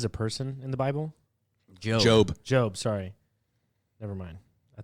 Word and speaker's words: Job: So Job is a person in the Bible? Job. Job. Sorry. Never mind. I thought it said Job. It is. It's spelled J-O-B, but it's Job.